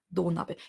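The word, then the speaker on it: 土鍋: Spricht man ein bisschen anders als Do-Nabe, nicht Do-Nabe. Also dieses Do ist lang. Ja? Do-Nabe.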